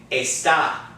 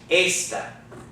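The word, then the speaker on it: ésta: vocabulary list isn't it the difference is that there's no accent so on the word our vocabulary lists were pronouncing it a stop the word up in the Bible verses pronounce a step see how the accent makes a big difference and it's a completely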